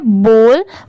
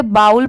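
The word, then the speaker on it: bowl: ये है false F ओ डब्ल्यू एल S false जैसे बी ओ डब्ल्यू एल इसे हम क्या पढ़ते हैं बॉल बहुत सारे लोग इसे बाउल पढ़ते हैं बट वो रॉन्ग होता है जैसे अगर ये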